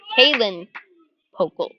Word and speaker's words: Callan Pokel: And up steps Callan Pokel. Pronounce it Kalen Pokel.